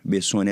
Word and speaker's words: Bessoni: Bessoni é assim mesmo que pronuncia, doutor?